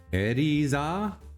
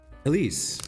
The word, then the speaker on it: Elise: Eriza? Elise.